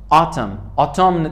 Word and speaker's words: autumn: 4 autumn تلفظ نمیشه. autumn فصل خزان. autumn تلفظ نمیشه. ان تلفظ نمیشه. autumn که بگیم.